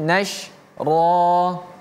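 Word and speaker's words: نشرا: Wan nasyirati nashra. Ini juga sama huruf shin. Jadi bacanya nash, nash. Ada suara yang keluar. Nash, ada sh, ya, ada suara yang keluar. Nashra wan nasyirati nashra.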